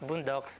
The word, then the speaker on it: boondocks: word boondock simply means it's pronounced bundok but here it's pronounced boondocks it simply means forests